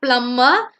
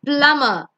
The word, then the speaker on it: plumber: The next one is not plumber. It's not plumber. It's plumber. Plum. B is silent over there.